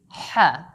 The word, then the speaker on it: ح: So remember the sound is ha, have, not the H sound in the word hot, hard, hall. The sound is like an A sound. Hat, habit, not like hall or hard.